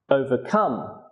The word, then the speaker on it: overcome: Some three-syllable verbs have stress on the third syllable. For example, understand, introduce, overcome.